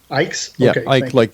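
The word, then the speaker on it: Icke: I don't know how you pronounce his last name. Ike like.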